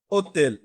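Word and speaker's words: hôtel: কি আসতেছে উচ্চারণ ওতেল ওতেল মানে হচ্ছে কি হোটেল এচ কিন্তু লিখায় আসবে বাট উচ্চারণে কিন্তু আসবে না ওকে তারপরে দেখেন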